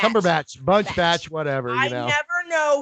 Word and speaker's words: Cumberbatch: Cumberbatch. Did I say it right? No, it's Batch. Cumberbatch, Batch, whatever.